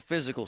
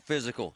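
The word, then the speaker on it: Fyzical: Monroeville Physical, spelled F-Y-Z-I-C-A-L, is spelled different, because they are different.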